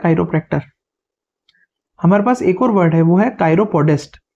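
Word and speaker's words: chiropractor: Next जो word है इसका प्रोनाउंसिएशन होगा कायरो। इसमें CH जो है वो क का साउंड दे रहा है, क का, तो इट्स कायरोप्रैक्टर।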